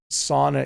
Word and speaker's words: sauna: finland by the way it's sauna is the normal english pronunciation but i have a friend from finland who says sauna or something like that where's latvia let's try